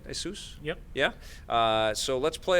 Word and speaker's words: Asus: much a soos by saying it right hey soos yep yeah so let's play a little stranger